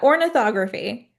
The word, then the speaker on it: ornithography: And so did I get it right or do you want to tell me how to really pronounce it? Did it? Yeah. Ornithography.